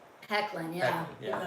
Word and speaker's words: Hoechlin: Hecklin, yeah. Hecklin, yeah. Even though it's spelled like what you just said.